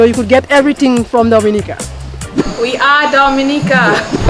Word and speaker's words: Dominica: n i c e it is not Dominican Republic it is pronounced Dominica and it's situated between